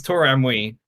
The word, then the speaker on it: tauraamui: Yes, it's tomi is how I pronounce it.